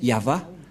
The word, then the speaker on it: Yahvah: est placé au milieu c'est l'alphabet hébreu qui est prononcé yava et dans Genèse 2133 bchit on voit bien va excuse-moi voilà donc ça revient toujours le terme yava et donc Abraham a